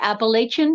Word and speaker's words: Appalachia: of multiple cultures so in my culture Appalachia and Appalachian are the appropriate way to say those words